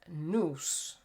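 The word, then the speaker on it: nous: he then said that noose I believe is how you pronounce it n-o-u-s set the universe into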